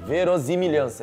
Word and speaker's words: verossimilhança: Não, ia ficar Z, verossimilhança. Um S só tem som de Z, cuzão.